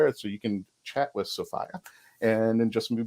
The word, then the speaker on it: Sophia: So everybody, the correct way to say her name is Sophia.